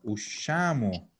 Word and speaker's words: usciamo: Acuérdense que la SC se arrastra, es una sh, y la vamos a mantener además. Entonces, aquí en presente es ush, la vamos a poner en mayúscula, usciamo.